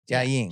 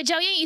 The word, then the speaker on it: Jiaoying: I said, you make me pronounce cappuccino, honey. Like. So she's couldn't say Jiaoying. Jiaoying. She wants to call me Joanna. Yeah, Jiaoying is easy.